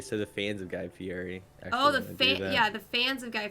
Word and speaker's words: Fieri: Am I pronouncing that right? Fieri?